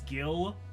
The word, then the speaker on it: Gillian: Do you pronounce the G in Gillian as J or G? I think it's Gil, short for Gillian, so I pronounce it as a hard G.